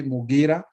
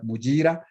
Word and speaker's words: Mugira: And again, as in the screen, my name is Mugira. I recognize that Mugira is a name that is also in Uganda, but I guess Uganda pronounce it as Mujira, and in Rwanda as well.